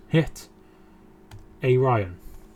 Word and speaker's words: Mkhitaryan: Mkhitaryan. Hit a Ryan. That's how I always pronounce it.